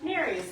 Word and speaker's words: Nerys: It's spelled Nerys, and every time people ask what their name is, I say, Nere's, like fairies with an N, and then everyone thinks her name is Mary.